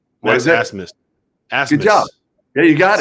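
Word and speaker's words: Abmas: Well, I want to hear you pronounce Oral Roberts' best player's last name because it is spelled. What is it? Asmus.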